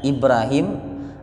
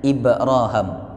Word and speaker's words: Ibrahim: Hai Nabi Ibrahim Alaihissalam ini ada yang membaca Ibrahim ada yang membacanya Ibrohim itu dua bacaan yang shohih ya Jadi kalau panjenengan